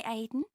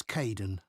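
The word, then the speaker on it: Kaeden: Hi Aiden. It's Kaden.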